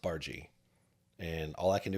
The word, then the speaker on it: Barga: uh the last name looks like barga looks like bar but it's pronounced bargie and all I can